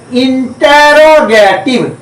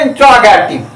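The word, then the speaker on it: interrogative: बच्चे हैबिट के अनुसार उनका प्रोनाउंसिएशन जो होता है इंट्रोगेटिव। अब इंट्रोगेटिव बोलते हैं, INTRO बोलते हैं। प्राय मैं देखता हूं बच्चे गलती करते हैं, ध्यान में रखिए। हम बोले इंटेरोगेटिव, INTERROGATIV, इंटेरोगेटिव सेंटेंस।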